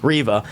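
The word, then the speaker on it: Reva: of people out there but the the the revit character and it's not mostly room's fault excuse me yeah excuse me i have to say it correctly riva uh i just feel like there's so much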